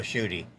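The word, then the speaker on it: Tschudy: his name is bill shooty and amnon's had him and his wife on the show before but his name is spelled t-s-c-h-u-d-y now chew on this for a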